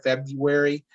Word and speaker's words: February: consider uh february i i always try to announce that a little you know trying to get that sort of you sound in there february uh a little bit